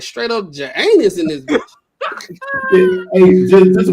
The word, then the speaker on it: Janus: Janus. That should sound like you ski. Parts on your skin. The J is silent. It's anus.